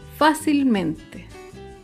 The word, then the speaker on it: fácilmente: Otro ejemplo es la palabra fácilmente. Fácilmente se acentúa en la sílaba anterior a la antepenúltima sílaba.